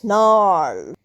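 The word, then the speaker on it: gnarl: সে বিদেশী ভাষা ভালোবাসে নাউ কামস নার জি এন এ আর এল নার এখানে দেখো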